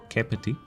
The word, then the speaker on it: Kapiti: The letter A has three sounds. First, the slender, as in cab. Example Kapiti. Second, the broader, as in rather.